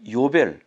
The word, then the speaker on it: 요벨: 그 다음에 이렇게 좀 작은 뿔이 있는데 요거는 요벨이라고 그래요. 요벨. 그런데 정말 성경이 신기한 거는요, 희년이라는 단어가 요벨, 글자가 똑같아요. 발음도 똑같아요.